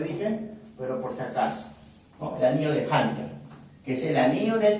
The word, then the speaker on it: Hunter: el anillo de Hunter se escribe junter junter ya no se utiliza como le dije pero por aco no el anillo de Hunter que es el anillo